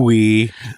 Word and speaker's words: Ooui: so it's a pun it's in another language pronounce it we thought it'd be a little weird I think